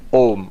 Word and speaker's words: Om: um but luckily fortunately when you write it as om in english that's actually the correct pronunciation om is the correct pronunciation